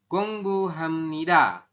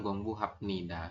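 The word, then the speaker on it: 공부합니다: gini ya gungbu Hamnida tulisannya gongbu hapnida ya Enggak kan B di akhir harusnya berbunyi P tapi karena bertemu dengan Nen di sini maka bnya dibaca m otomatis nanti teman-teman membacanya adalah Hamid bukan gongbnida seperti itu oke lanjut yang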